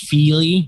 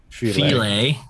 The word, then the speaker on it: Fili: Definitely Fili, but okay. Oh, you don't like touchy File? No, I said it's definitely pronounced Fili, but okay. What did I say? Filet.